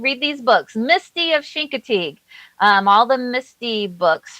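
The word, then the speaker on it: Chincoteague: And so the name that Sean can't pronounce, it's actually called Shinkatig Bay.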